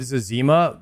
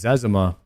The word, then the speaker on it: Zezima: I always pronounce it Zezima, but apparently it's Zezima.